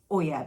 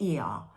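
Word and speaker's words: Oia: the cliff in it's spelled o i a Oya but you pronounce it e and um it's a steep cliff and the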